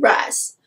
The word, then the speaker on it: Rhys: My baby Rise is there to save Feyre. Hey, by the way, I do know it's pronounced Rhys and Rysand, but I will ever and always know Rysand.